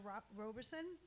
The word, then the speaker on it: Roberson: So I'm going to start with, to my left over here is Roberson.